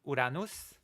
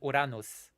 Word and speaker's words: Uranus: okay thank you Titan Uranus that's right I'm pronouncing it correctly Titan Uranus I'm not pronouncing it like an anus okay I'm pronouncing it